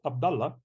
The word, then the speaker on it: Abdallah: pronounce your name like abdala how can you pronounce your name my name is Abdullah and it's the same it's the same but